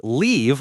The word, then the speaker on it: leave: Live like I live in Canada, and leave like I'm going to leave the house. One tiny vowel sound, totally different meaning.